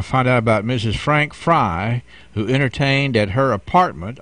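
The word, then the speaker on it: Frei: It sounds like it, and you know that's the Fry family, and for those who can't see the words that you and I are seeing, that's spelled F-R-E-I.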